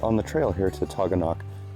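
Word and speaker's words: Taughannock: Now, just to be sure we have no beef with you New Yorkers, the correct pronunciation is Taganok.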